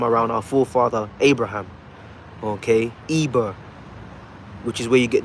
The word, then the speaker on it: Eber: Okay, Eber, which is where you get the Hebrew word. The correct way to say that in Lashon Kodash would be Ibar.